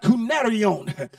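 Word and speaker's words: κυνάριον: in the greek texture that word dog is pronounced cunarion and cunharion is not a derogatory name but it simply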